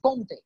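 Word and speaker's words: Comte: সো the father of sociology August কোম্তে, তার নামের উচ্চারণ কিন্তু অগাস্ট কোম্তে নয়, অগাস্ট কোম্ত ফ্রেঞ্চ উচ্চারণে, কিন্তু যেহেতু বাংলাদেশে সাধারণত অগাস্ট কোম্তেই বেশিরভাগ মানুষজন বলে এবং সেটা বুঝতেও সুবিধা, সে কারণে আমি অগাস্ট কোম্তেই বলবো।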